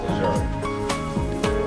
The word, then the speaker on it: Ahern: John Archer Ahern. That is incontrovertibly, the way the name is pronounced, the family of John